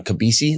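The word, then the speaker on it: Kobeissi: Kabisi, that's how you say it.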